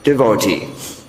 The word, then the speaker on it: devotee: in the entire society pronounces that word devotee. 2nd syllable stressed. Because ordinarily the proper pronunciation according to the grammar should be devotee.